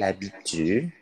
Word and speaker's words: habite: Ingat di Perancis huruf H itu haram hukumnya untuk dihakan gitu. Jadi alias jangan dipronounce ya, jangan disebutkan, jangan dilafalkan. Jadi H itu, ya, kalau di awal ya ingat teman-teman, jangan pernah dibaca, itu haram.